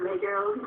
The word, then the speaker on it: Les Girls: Is it like girls or less girls? As it was spelled L-E-G. But I guess the French pronunciation is Les Girls.